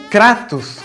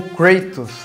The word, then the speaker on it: Kratos: O Kratos, ou Kratos, as duas pronúncias estão corretas no caso, não tem como.